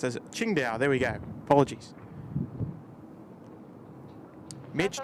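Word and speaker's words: Qingdao: stands for cargo though oh there we go King D pronounced as Ching da there we go apologies Mitch new subscriber checking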